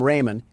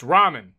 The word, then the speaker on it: ramen: Door Dash is on its way to deliver some Raymond, and I don't want to spill any around the pyramid floors. Uh, it's pronounced ramen.